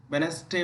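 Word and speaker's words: Wednesday: जैसे hanker cheap है, और यहाँ पर जो आप लोग पढ़ते हैं वेडनेसडे उच्चारण करते हैं, वेडनेसडे पढ़ना चाहिए।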